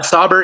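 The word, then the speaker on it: Saubert: his name Eric Sabbert yeah yeah Sabbert and stuff and maybe that's just something that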